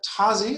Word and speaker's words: Tozzi: got a very special guest from microsoft tazzy is that am i pronouncing that correctly that's right tazzy from